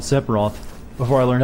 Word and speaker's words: Sephiroth: know what I called sephiroth before I learned how to say it properly I think I called sephiroth I added like a nail into separat's name and I called him sepultra that sounds like a